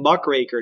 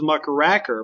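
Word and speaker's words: muckraker: this term Muk raker not to be confused with Muk rer Muk raker is a very important term notice it's spelled with just AK it is not cracker it is craker mck raker and and this is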